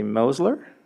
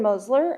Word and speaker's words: Mosler: public comment comes from let's say mosler is that correct perfect being the pronouncer helped with my phonetics good evening president sandoval dr reynolds and governing board members my name is mosler and i'm an instructional